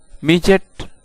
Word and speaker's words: midget: दोस्तों, आप यहाँ पर देख सकते हैं कि लफ्ज़ के आखिर में DGET या DGE आया है, तो ऐसी जगह पर डी साइलेंट हो सकता है।